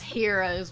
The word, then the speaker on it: Euros: It's heroes, but it's spelled Euros.